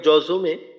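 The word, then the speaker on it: جوع: আতআমাহুম মিন জু', আর শেষে আইনটার উচ্চারণটা একটু চালু রেখে করা, আওয়াজটা যেন বন্ধ হয়ে না যায়। আর আইনের উচ্চারণটা 3 আলিফ টানার পর টানের শেষে আসবে। টানের শেষ হওয়ার পরিপূর্ণ যতটুকু টানবো, এই টানটা পরিপূর্ণ শেষ হওয়ার পর আইনের উচ্চারণটা হবে, অর্থাৎ জু, আর আইনের আওয়াজটা একটুক্ষণ চালু রাখবো।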